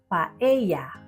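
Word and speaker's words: paella: Tandaan lang na ang pag-pronounce dito sa Spain nito ay paeya with a wise sound. Hindi pa.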